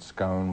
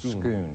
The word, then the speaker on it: Scone: The stone is also known as some people pronounce it Scone, but I think the correct pronunciation is Scone.